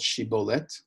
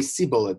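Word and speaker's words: שִׁבֹּלֶת: ephraim they would say c bullet they couldn't pronounce the shin so this is the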